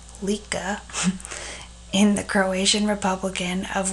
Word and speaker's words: Lika: His native Lika, pronounced Lika, in the Croatian Republic of what is to